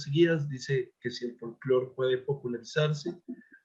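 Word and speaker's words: folklore: Me llamó la atención el uso del término folclore, con K en tu título, aunque lo pronuncias como folclore.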